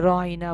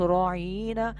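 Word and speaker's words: راعنا: কিন্তু ইহুদিগণ অনেক সময় রহাইনায় উচ্চারণের আইন অক্ষরের পরে ইয়া দিয়ে মাদ্দা সহ একটু লম্বা টান দিয়ে বলতো।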